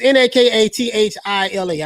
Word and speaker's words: Nakathila: It's Nakathila. I got it written down because I didn't know how to pronounce his last name.